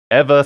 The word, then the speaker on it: Ava: Johnson's hostility towards evil Ava will be explained later on bTW Ava's name is pronounced ever thala Ella again please